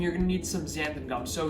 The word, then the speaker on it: xanthan: So xanthan gum, I know it sounds scary because there's an X in front of it, so let's take that X away and call it anthan gum. Anthan rhymes with Santa, so we'll call this